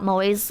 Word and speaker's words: moe: you can get, and it's not .mo, although it looks like .mo. It's moe, like the anime word.